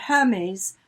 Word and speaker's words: Hermes: hyde talks about her i just pronounced him as the scarf not the god exactly yes it's a very old shirt in in lewis wonderful books a gift he talks about hermes being the god of